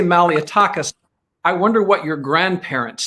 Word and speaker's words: Malliotakis: We say Malliotakis. I wonder what your grandparents say. I bet it sounds a little different. Well, it's Malliotakis, really.